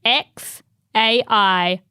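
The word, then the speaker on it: X Æ A-Xii: what's its name well Grimes pronounces it x a i Archangel what or X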